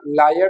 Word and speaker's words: lawyer: Usually in Pakistan English we pronounce it एज लायर. हम इसको और इसकी जो प्रोनाउंसिएशन है इनको हम क्या कर देते हैं? Homophones. Where as they are not homophones. इनकी जो प्रोनाउंसिएशन है दैट इज नॉट सेम. इनका जो साउंड है दैट इज डिफरेंट. इनकी pronunciation is different. This is लायर and this not लायर, this is लॉयर, लॉयर.